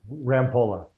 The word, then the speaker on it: Rampolla: Rampola.